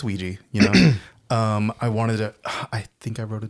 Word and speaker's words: Ouija: That's interesting that you went with Ouija. The correct pronunciation. Yeah. Yes. Yeah. Because my dirty American upbringing is Ouija. I don't know. Like it's spelled with an A.